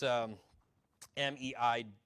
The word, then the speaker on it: Mejia: Okay, so it's Meiji, all right?